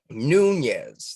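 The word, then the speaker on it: Nunes: Speaking of Congress and all that good stuff here, Nunez. That's how you pronounce that one, right?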